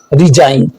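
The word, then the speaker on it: resign: एन से पहले आने वाला जी साइलेंट होता है, जैसे डिजाइन, साइन, रिजाइन।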